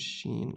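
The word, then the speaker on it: شين: This one is seen and this one is sheen, okay? So, this one's S in English and this one's SH in English.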